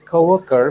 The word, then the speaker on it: co-worker: Dengan coworker mean teman rekan kerjanya, coworker, ini ya, co-worker. Jadi bacanya co-worker. Jadi ada kayak U-nya gini. Ini sebenarnya dibaca W, mendekati W.